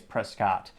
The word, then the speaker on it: Prescott: Scots H kidding the internet told me it's Prescott in ter pronunciation and his profile says Louisiana Pride Mississippi